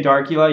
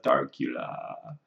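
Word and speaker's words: Darcula: But if you say Darkula, you got to say it like your Count Dracula, Darkula.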